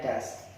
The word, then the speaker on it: does: Nah, DAS ya, jadi bacanya does.